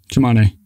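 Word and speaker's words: Tsimane: or this tribe that you talk about, the Samani, is that how you say it? Yeah. Chimane.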